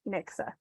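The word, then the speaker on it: NYCSA: with it too and it sounds like an X but it's actually a CS so it's New York City student account that they pronounce Nixa um thank you we're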